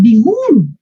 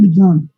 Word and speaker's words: begun: No dices bigun. Began, bigun. Began, begun. Sing, sang, sung.